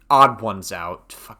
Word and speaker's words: TheOdd1sOut: out would uh odd odd ones out I I'm so Odd Ones Out is how you say his name.